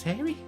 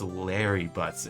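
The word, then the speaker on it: Larry Butz: was doing that congratulations Harry Harry yes you I can practically see the headline God damn it no it only rhymes with hairy butts it's Larry butts innocent come on um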